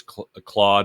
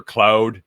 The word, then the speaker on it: Claude: There's Claude or Cloud, depending on if you're French or not. I know I'm not pronouncing it right. Claude.